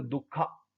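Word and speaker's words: dukkha: तो दुख का मतलब है, देखिए ऐसा नहीं दुख या दुखा, ये इंग्लिश में थोड़ा प्रोनाउंस, इसकी जो प्रोनाउंसिएशन है ऐसी होती है, दुखा, सामुद्या, मतलब इस तरीके से प्रोनाउंस करना पड़ेगा, लेकिन हिंदी में तो ये दुख ही है भाई।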